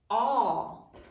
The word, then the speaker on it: awe: Sound it out. Awe. Silent final E.